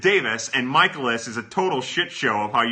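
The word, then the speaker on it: Tewes: another fun one because his last name is tuies t-e-w-e-s but he pronounces it davis and michaelis is a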